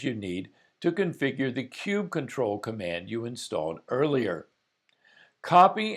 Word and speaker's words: kubectl: consensus in the Kubernetes community as to how kube control should be pronounced. Popular variations include kube control, kubectl, kubicuddle, and latrell. Say it like you feel it, but we'll use kube control here.